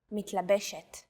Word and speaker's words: מתלבשת: But in some cases, the stress is on the second to last syllable of the word. לקוח, נוסע, מתלבשת.